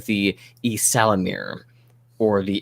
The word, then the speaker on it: Ysalamiri: They are a member of a reptilian kind of lizard-like species called the Ysalamir, or the Ysalamiri, if we're making it plural.